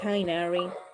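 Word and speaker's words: Tighnari: actual technology quest i guess or i guess tying arie so that's how they pronounce his name i don't want to play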